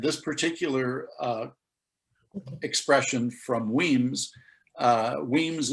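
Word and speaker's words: Wemyss: And this particular expression from Weems, Weems is spelled W-E-M-Y-S-S.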